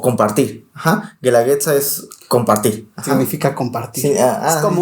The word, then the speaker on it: guelaguetza: julio justamente O sea la palabra Cómo se pronuncia guandaliza Bueno Este pero significa apoyo mutuo o compartir Ajá guelaguetza Es compartir significa compartir como una especie de